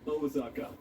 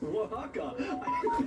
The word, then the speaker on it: Oaxaca: Mexico, Osaka, for anyone who actually wants to know how to pronounce these things. No, wait, scratch that. It's Oaxaca.